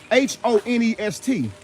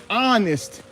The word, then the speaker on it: honest: it look at it h-o-n-e-s-t on honest they don't even they don't even pronounce the h honest honest you have